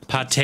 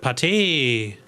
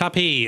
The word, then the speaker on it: Pate: Pate! Jetzt weiß ich, wie ausgesprochen wird. Pate! Es ist nicht Tapé, es ist Pate!